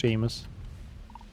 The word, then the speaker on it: Seamus: Like, if you read that name for the first time, you wouldn't really think that's gonna be pronounced Seamus.